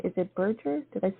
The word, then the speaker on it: Burger: wonderful thank you so very much am I pronouncing your last name is it Burger did I say that correct you know it's